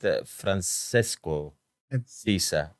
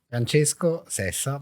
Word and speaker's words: Francesco Sessa: I was reading it Francesco Sisa. The Italian pronunciation is Francesco Sessa, but it's okay.